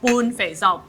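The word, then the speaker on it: 半肥瘦: In Cantonese, it's called bun fei zao.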